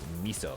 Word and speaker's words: miso: I think it's pronounced miso.